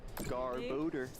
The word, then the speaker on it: Garbodor: Before I realized And then I'm going to go the 1, official pronunciation. Garbodor, 2, as Boo would say.